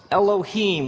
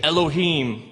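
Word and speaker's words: אלהים: it would look something like this and it's pronounced Elohim let me hear you say Elohim in the beginning Elohim created the heavens and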